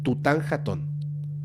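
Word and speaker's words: Tutankhatón: chico se llamaba tutan jaton Okay así se pronuncia tutan jaton con el tiempo después de convertirse en faraón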